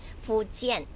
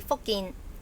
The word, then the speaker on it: Fujian: Would I pronounce that Fujian? Fujian. Fujian. Fujian, but spelled F-U-J, isn't it? Cantonese should be Fokin.